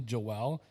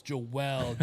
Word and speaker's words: Joel: my middle name differently Joelle so ever since then I bug my my fiance I bug my mom my dad like it's not Joel It's Joelle daily Joelle so it took